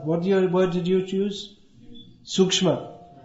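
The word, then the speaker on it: सूक्ष्म: Sukshma. Bengali, Shukha. It's written the same way but pronounced differently.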